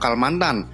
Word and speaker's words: Kalamanthana: mantan artinya adalah membakar karena vokal huruf pada kata Kalla dan mantan menurut kebiasaan tidak diucapkan maka kata kalamanthana diucap kalmantan yang kemudian disebut penduduk